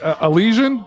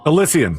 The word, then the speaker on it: Elysian: Is it Alleian? Elyian.